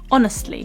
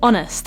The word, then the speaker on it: honest: I really like pizza this word honest has this o sound at the very start of it along with a silent h at the start honest and when you're creating